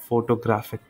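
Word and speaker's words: photographic: Okay, ये मैंने ठीक से प्रनाउंस नहीं किया. फोटोग्राफ, फोटोग्राफर, फोटोग्राफिक.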